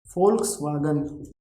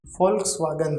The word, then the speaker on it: Volkswagen: also totally different because v is becoming for see identity is how but pronunciation of this alphabet whenever it will come in word it will be for for example i think all of you know this car name volkswagen right volkswagen this word